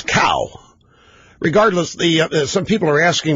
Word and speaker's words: Cao: pronunciation of Mr. CAO's name, the rookie, the guy that replaced Congressman William Jefferson, Democrat, Louisiana, is Cow.